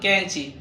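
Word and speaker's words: قینچی: بعد ذلك قاف قاف ينطق مثل كاف مفهوم. فنقول كانشي كانشي. فانظروا إلى النطق. النطق كاف لكن المكتوب هو قاف. معناه أن القاف ينطق مثل كاف في الأردية.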